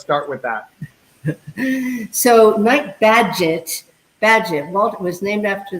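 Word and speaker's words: Bagehot: badgett and in 1970 it's like a badge it's magic right badge it badge i know i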